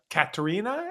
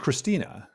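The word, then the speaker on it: Kristina: well as um, uh, Katerina, is that the right way to say that, Katrina? No, I think it's just Christina.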